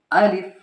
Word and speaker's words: Alif: Keep in mind that its correct pronunciation is Alif, not Alif, not Alif. So if it is easy for you, you can read after me. Alif, Alif, Alif.